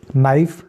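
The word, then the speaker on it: knife: पांचवां प्रिंसिपल वो है अगर किसी लफ्ज में n से पहले के आता है तो के हमेशा साइलेंट आ जाता है अब यहां पे के की बात हो रही है के जब ए से पहले आ जाएगा तो के साइलेंट हो जाएगा तो यहां पे देखें नो अ यह जो है के एन से पहले आया तो साइलेंट हो गया इस तरीके से नॉट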